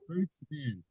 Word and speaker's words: Ruthven: do you say your last name Ruth V Ruth Vin Ruth Vin Ruth okay Sam and John are